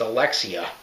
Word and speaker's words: Alexia: name i think i've been saying it wrong the whole time it's alexia i